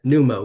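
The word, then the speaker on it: pneumo: Numo with a P. Yes. Silent.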